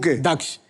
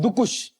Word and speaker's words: दक्ष: यू बोलूंगा क्योंकि आपने मेरा नाम बिल्कुल सही प्रोनाउंस किया है। दक्ष लोग मुझे मुझे क्या बुलाते हैं? लोग मुझे बुलाते हैं। और यहां पे आके मुझे नया नाम का वेरिएशन मिला है।